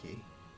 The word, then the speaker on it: Quay: That's pronounced key. I know, it's spelled Quay. It's key.